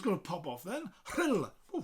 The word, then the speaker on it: Rhyl: Rhyl is spelled R-H-Y-L. The Y-L is basically ill, and that R-H, one letter, in the Welsh alphabet, we got the H sound first, the H, and then the rolling R straight after it, so it's a Hr.